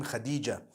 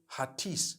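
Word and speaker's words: Hatice: it you know I came across the name Khadijah in Turkish some people spell it h a t i c e I would say hatis for that no it's actually Khadija in Turkish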